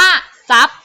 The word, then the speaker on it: ทรัพย์: เป็น เสียง ซอ โซ่ ทร ออก เสียง ซ ออ นะ คะ ฉะนั้น คำ นี้ อ่าน ว่า ซา นี้ นะ คะ คำ นี้ อ่าน ว่า ทรัพย์ แล้ว ก็ คำ นี้